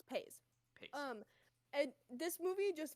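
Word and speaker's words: Paizs: about the car ride yes his name is pronounced John pa pa it's not Pi it's pa pa um and this movie just means so much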